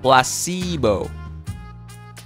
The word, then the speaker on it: placebo: after me well SIBO a stress on the middle syllable blast see Bo + C emo splendid